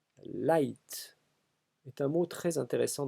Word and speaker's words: light: outre son expansion sémantique c'est sa prononciation en effet un tellement en français devraient se dire l'ict comme dans cliquetis cliquetis au nom du principe d'assimilation de dévoilement qui interdit de dire gueule juste avant tu mais c'est une autre histoire en réalité le français a emprunté le mot et sa prononciation telle qu'elle est celle ci n'a jamais varié tout le monde dit light sans réfléchir et sans sourciller comme si la graphie